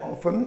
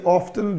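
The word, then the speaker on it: often: तो सी ऑफन, ये वर्ड है ऑफन, ये ऑफ्टन, दोनों प्रोनाउंसिएशन ठीक है इसके।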